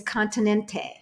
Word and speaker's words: Continente: So the name of the store, Auntie Trey, is Continente. Yeah. Continent. Continent. Continent. Oh, you don't pronounce the last E. See? A lot of times in Portuguese, you don't really say the last vowel.